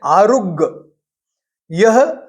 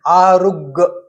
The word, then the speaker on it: आरुग्ग: एक बड़ा विशेष शब्द है इस स्तवन में आरुग्। यह अर्धमागि शब्द है और यही शुद्ध उच्चारण है। आरुग्ग कुछ लोग हिंदी का शब्द ले लेते हैं आरोग्य वह अशुद्ध उच्चारण है।